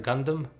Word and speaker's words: Gundam: Did I pronounce it right? Gundam, robot.